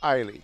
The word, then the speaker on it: Eiley: It's Addie, I think. No, it's Eiley. Is it Eiley? Okay, all right. That was the one that I had to ask 3 times to make sure the pronunciation was right. But it is Eiley. Okay, so it's Eiley. Think of the I.